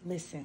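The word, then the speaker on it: Lizzen: listen listen listen listen but they spell your name l i z z e n but it's pronounced listen listen cuz I want you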